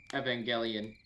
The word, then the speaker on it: Evangelion: patreon neon genesis evangelion evangelion is pronounced with a hard g and don't watch the